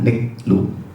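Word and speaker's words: נִגְלוּ: Kata huruf pertama itu N-nya, niklu, bacanya niklu.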